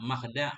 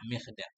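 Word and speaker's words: مخدع: Dan padanya mukhda' itu ada 3 lughat, 3 cara baca. Mukhda', makhda', mikhda'. Dhammul mim, dhammah mim, fathuha, fathahnya mim, wa kasruha, dan kasrahnya mim.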